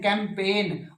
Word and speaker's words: campaign: और कैंपेन, अभियान चलाते हो ना, तो CAMPAIGN, कैंपेन, और गै साउंड बोलते नहीं।